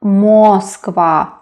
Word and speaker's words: Москва: Then Москва. Why is it so? Well, the letters are M, O, S, K, V, A. But the last syllable is stressed. That is why not Moskva, but Moskva, Moskva, Moscow.